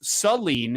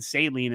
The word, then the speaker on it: Saline: he and his uh i was told it was saline is how you pronounce it so i apologize for saying saline in the past but the celine hornets took on ann